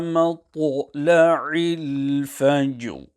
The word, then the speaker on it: matla'il fajr: Hence the correct pronunciation is Salamun hiya hatta matla'il fajr.